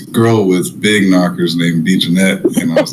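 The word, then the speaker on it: B. Jenet: So you pronounce it like I'm a B Jeanette. Oh yeah, B Jeanette.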